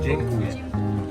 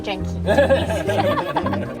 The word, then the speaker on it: dziękuję: Dziękuję. Dziękuję. Dziękuję. Say one more time. Dziękuję. Dziękuję. Dzięki. I'll take dzięki.